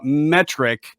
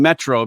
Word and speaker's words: Metric: music of zeno robinson i only mispronounced uh a name one time and it was the band uh metric and i pronounced them metro because when i was